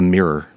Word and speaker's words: mirror: Like it sounds like like all all the vowels are like kind of rubbed into each other. Um where I'd call it a mirror.